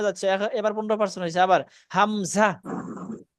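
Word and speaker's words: همزة: এবার 15স হইছে আবার হামজা হামজা শব্দটা উচ্চারণ করে শেষে একদম ছেড়ে দিবেন হামজা হামজা ধাক্কা দিয়ে শব্দটা মুখ থেকে বের করে দিবেন হামজা হামজা হামজা হামজা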